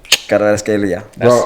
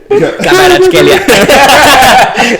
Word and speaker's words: Kvaratskhelia: Kvaratskhelia. Hey, bro, you got it. Can you roll your R's, bro? Yeah, I can. It's just. I'm gonna record you. Is there an R in there? Kvaratskhelia.